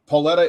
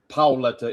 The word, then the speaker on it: Paoletta: And it's Paoletta in the US, Paoletta if you're over in Italy. Paoletta.